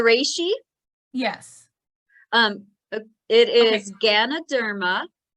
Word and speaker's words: Ganoderma: of that last mushroom one more time or spell it out for us uh the polyport the ri yes um it is Ganoderma g a n o d e r m